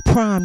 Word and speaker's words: Prhyme: this is prime y'all that's p-r-h-y-m-e like rhyme with a p in front of it and uh i'm not